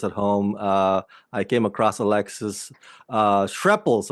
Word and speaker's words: Alexis Schrepple: I came across Alexis Schrepples, right? Did I pronounce that correctly?